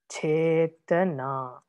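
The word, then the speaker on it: cetanā: In ragana, first and last syllables are heavy. For example, chetana. You see, first one is heavy, last one is heavy, middle one is light.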